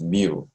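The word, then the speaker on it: μ: And this is how we pronounce mu.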